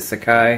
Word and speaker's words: Sakai: I'm pronouncing it correctly I know it's not SEI City but Sakai at least I'm fairly